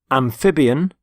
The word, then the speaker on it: amphibian: And here are the 7 words: amphibian, carnivore, herbivore, omnivore, predator, prey, parasite. And the first word is amphibian. Amphibian. Notice the stress on the middle syllable, amphib.